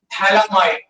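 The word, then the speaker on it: phthalimide: तो इसका नाम है थैलामाइड, थैलामाइड, PHTH, PH silent है, थैलामाइड।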